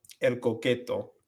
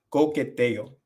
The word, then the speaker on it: coqueteo: El coqueto. No, coqueteo.